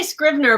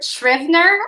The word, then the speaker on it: Scrivener: I say Scrivener, but it's not like I've said this to a lot of people. It's not a word that I use loud very often. I say Scrivener.